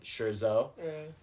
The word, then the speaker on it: Scherzo: you please uh remind me the how you pronounce the name of this movie I don't know why I'm forgetting I'm embarrassed Shero okay thus concludes Shero